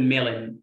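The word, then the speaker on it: melon: على بعضها واتر ميلون، الاو هنا ما بنطقهاش لان الاو قبل الام في اخر الكلمه ما بنطقش الاو خالص، بقول ميلن لاين فبقول واتر ميلن، طبعا كلكم عارفين يعني ايه.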